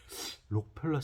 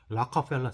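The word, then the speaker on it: Rockefeller: 방법 좀 알려주라 했더니, 록펠러 센터가 어디니? 이게 물어보더라고요. 뭔, 도대체 얘네들은 뭐라고 그러나 하고 잘 들어봤더니 뭐라 그러냐면 라카펠라 센터 그래요. 알 발음이잖아요. 라카펠라 센터. 록펠러하고 라카펠러하고 완전 다르잖아요.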